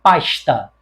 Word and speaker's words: pasta: Aqui no Rio de Janeiro, a tendência do carioca é pronunciar este S que finaliza uma sílaba ou uma palavra como se fosse um sh. Nós, cariocas, chiamos muito.